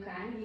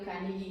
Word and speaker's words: Carnegie: Dale Carnegie, muitas pessoas perguntam como que se pronuncia e tá certo assim, mas eu digo para lembrar de Odeio Carne, que torna mais fácil de recordar esse nome. Quando Dale Carnegie, então, percebeu que ele